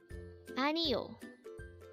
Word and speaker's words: 아니요: only here at day Hangout word number 39 anio which means again over 20 days annual and